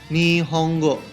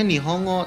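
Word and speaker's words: 日本語: bahasa Jepang S kan kalau secara tulisannya ni Hongo tapi kok dibacanya ni honggo karena n dalam bahasa Jepang dibacanya Eng maka otomatis di sini seperti enya dobble makanya ni honggo bacaannya ya selanjutnya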